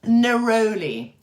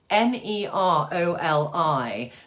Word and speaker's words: Neroli: What's RO-Li to lift moods, and how do you spell it, please? Neroli. Neroli.